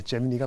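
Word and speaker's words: Gemini: 나이라고 부리는 미 영어는 뭐예요 김장렬 고수님 예 제미니가 낫습니다 제미니 아 제미니 제미니 그래요 제미니네 그래요 알겠습니다 어든 뭐 미국식 발음으로는 재미라고 린다고 하니까 그렇게 좀 표현을 하는데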